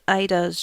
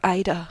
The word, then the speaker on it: Aida: cold Aida's dream and yes that's how our name is pronounced that's what the devs color in the behind-the-scenes video that's on YouTube on their channel because I wasn't like apparently some people color Ida other people color either and I don't I